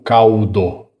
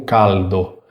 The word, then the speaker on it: caldo: O L italiano não tem o som de U. Eu não devo ler essa palavra como caldo. Caldo. Eu devo ler como caldo. Para você pronunciar corretamente, lembra? Tenta perceber um toque da língua no céu da boca.